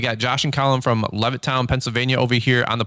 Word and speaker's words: Levittown: um well hey you guys are from uh levit toown Pennsylvania did I say it right yeah yeah all right well we got Josh and Colin from Levittown Pennsylvania over here on the podcast and um